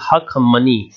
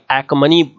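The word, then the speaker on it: Achaemenid: तो this is द अखमनी dynasty, ठीक है, हिंदी में इसको हखमनी भी बोलते हैं, दिस इज हखमनी, ठीक है, ऑल्दो यहां पर एखमनी इंग्लिश में प्रोनाउंस करेंगे।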